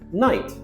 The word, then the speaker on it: knight: Knight and knight. Knight, with a silent K, is a medieval person dressed in a suit of armor.